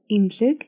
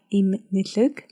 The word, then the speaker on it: Эмнэлэг: We don't pronounce it as it is written, like imlik, but we say imlik. The two letters in the middle are totally silent.